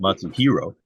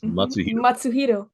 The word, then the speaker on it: Matsuhiro: you know yeah right it's not lots of hero it's matsuhiro yeah very good very good